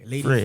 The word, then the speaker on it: Lady Frere: You've got a songwriter, rapper, and music producer hailing from, okay, you're going to teach me how to pronounce this, from Lady Frere. Is it? Frere, Lady Frere.